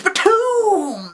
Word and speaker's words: Btooom!: Anime that we're talking about today is Btooom! Exactly as I just said it.